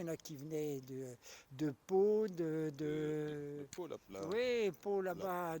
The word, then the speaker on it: Pau: la peau ou. Non, Pau, PAU, la ville Pau, de Pau. Pau, Pau. Ah non, la ville de Pau, ça se Ah, prononce Pau.